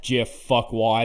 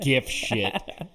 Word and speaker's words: GIF: gif it like crazy it's pronounced jiff anyway don't even don't even start with that gift oh